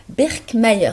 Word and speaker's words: Birkmayer: Il s'agit de professeur Birkmayer. C'est comme ça qu'il faut prononcer.